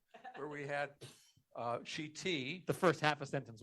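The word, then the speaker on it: שִׁתִי: I just want to go back to the second sentence for a second, that the word is shiti, with the stress is on the last syllable.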